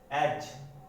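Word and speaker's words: edge: तो इसमें जो D है वो प्रोनाउंस नहीं होता। जैसे एज, प्लेज, फ्रिज। तो जहां जो D है वो क्या है? साइलेंट है। D क्या है? यहाँ साइलेंट है।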